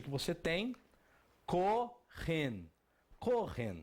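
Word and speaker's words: כהן: E qual a pronúncia que você tem? Kohen.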